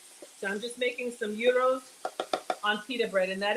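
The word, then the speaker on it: gyros: I'm just making some uros on peer bread and that is the pronunciation AO it's not a gyro it's not a Giro the g is silent it's a soft G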